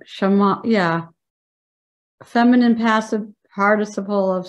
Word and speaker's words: Shema: Pronounced Shema, yeah.